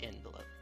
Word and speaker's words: envelope: word would have been so envelope because it looks like it would be pronounced envelope not always but that's